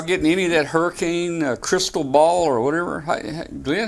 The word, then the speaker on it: Cristobal: Are y'all getting any of that hurricane crystal ball or whatever? Glenn, how do you pronounce that hurricane? Cristobal.